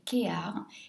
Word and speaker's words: KEAR: du packaging ça s'écrit kap mais ça se prononce kear c'est une marque donc qui vient de Grèce